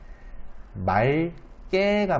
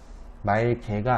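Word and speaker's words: 맑게: 그래서 기억으로만 무조건 발음하면 되느냐? 또 그건 아닌 게 말깨가 맞습니다. 말깨. 말개가 아니라 말깨가 맞기 때문에 그러니까 리을 기억 뒤에 기억이 이어질 경우 리을 기억을 리을로 발음합니다.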